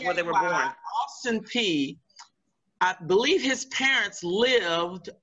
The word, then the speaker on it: Peay: p everybody says it's different but it's it's pronounced p that is the the the family that held